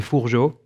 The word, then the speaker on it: Fourgeaud: that's my name uh it's a bit hard to pronounce and finish is probably the way to say it um in french we say fujo so that would probably